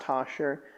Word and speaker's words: Tauchar: It's Tauchar. And I guess it could look like Talker. It's pronounced Tosher.